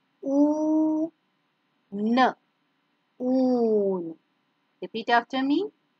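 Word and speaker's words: ऊन: In Hindi, Oon. Oon. Oon. Repeat after me. Oon.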